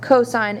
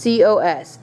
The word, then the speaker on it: cosine: Cosine is represented by just C-O-S, A being your angle. Even though you see just C-O-S, it is cosine, not cos.